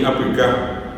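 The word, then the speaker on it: apyka: Ohoh pti apik. Oyua pti apik. Apik. Apik. A y k a apik a apa. Apik con apik con acento final.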